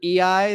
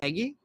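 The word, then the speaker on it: Eguy: or something I did I did realize that I've been pronouncing uh Rosario's name EI the entire time and apparently it's eggy I heard uh on a on a scouting podcast they called him eggy a couple times so I'm assuming they're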